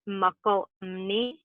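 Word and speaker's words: Mokelumne: its water from the McCalmy River, the McCalmy River watershed. I have heard that Indigenous folks pronounce it Muckalumni, and it means people of the fish.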